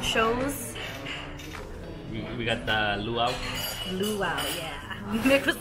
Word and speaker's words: luau: Luau, yeah. Nick was like, how do you say it? Lawu? It's like luau. Yeah, it was fun.